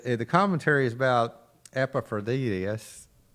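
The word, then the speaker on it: Epaphroditus: Says the commentary is about Epaphroditis. What? Epapraditus as Paul's helper in Philippians. Yeah. Epapraditis. Okay. Epaphroditis.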